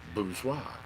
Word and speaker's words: Bourgeois: the way and he put out the proper pronunciation it was like it would be like booze and then why bourgeois my apologies truly not meaning to say it